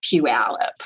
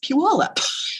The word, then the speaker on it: Puyallup: And then when he read it, I was like, oh, it's not Puyallup, it's Puyallup or Phaedra, and just